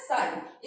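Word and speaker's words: psi: 2 और ये जो बना रखा है इसको बोलते हैं साई, इसके अंदर जो पी है, पी क्या होता है, साइलेंट होता है, क्या है, साई।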